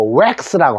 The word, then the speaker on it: wax: 자, 그 다음에 요거는 X인데 W가 붙어서 웩스라고 합니다. 웩스라고 영어 발음하는데 우리가 흔히들 흔히 왁스라고 해야죠. 밀랍을 왁스인데 왁스라고 읽어주시고요.